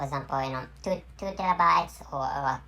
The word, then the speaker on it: terabyte: made a mistake and the correct pronunciation is t e r a which means terra terra terra and anyway